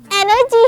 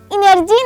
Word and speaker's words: energy: ही pronounce करते हो तो यह लब्ज एनर्जी है इनर्जी नहीं ई एन ई आर जी Y stress आपने शुरू में देना है और यहां पर आर साइलेंट है एनर्जी नॉट एनर्जी अब